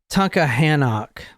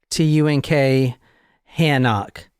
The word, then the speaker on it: Tunkhannock: The township is the Eaton Township, Eaton, but it's in the city of, and I can't pronounce it, I don't even want to try. It's Tunkhannock. T-U-N-K, Hannock.